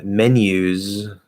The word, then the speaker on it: menus: Menus, that's a Z. Sentences, just like pronounces, it's S-I-Z, sizz. So the ES again is always a Z, should always be a Z.